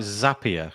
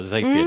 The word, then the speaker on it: Zapier: like we use things like zapier or zapier depending on how you pronounce it that's it you've got